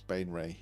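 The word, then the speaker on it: Baenre: Yeah, I've been saying it wrong for years. It was only because Jim made me look it up that I realised I'd been saying it wrong for years, but it's Bainray, yeah.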